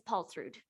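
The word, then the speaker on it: Paulsrud: last name i apologize my last name is paul through would you spell that please i sure will p-a-u-l-s-r-u-d thank you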